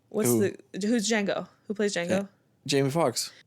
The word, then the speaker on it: Django: Django Unchained. Django. The D is silent.